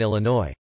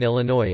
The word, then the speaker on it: Illinois: correctly drove me batty she also pronounced the s in Illinois unless they're dead in that case it is in fact a marine corpse pronouncing the s in Illinois is horribly fun to